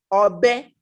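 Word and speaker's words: ọbẹ: So you're saying that knife in Yoruba is spelled ogbe. Obe, obe, o, b, e.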